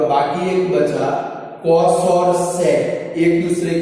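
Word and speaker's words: sec: सेक कैसे पढ़ते हैं स्टूडेंट, इसको पढ़ना है तो सेक पढ़ते, समझ गए। प्रोनाउंसिएशन गलत नहीं होना चाहिए, बहुत सारे गधेड़े गलत प्रोनाउंसिएशन करते हैं। सेक थीटा समझ गए ना, इसको क्या पढ़ते हैं, सेक, कचरा बहनों क, समझ में आया, कबूतर का क।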